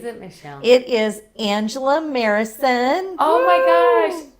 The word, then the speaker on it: Marison: It is Angela Marison. Oh my gosh. Oh, I always say Morrison. Marison. It's an A.